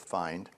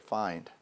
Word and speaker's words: PHIND: story uh at least my connection uh with find and maybe start off with as I just pronounced it find this is a homophone a word that is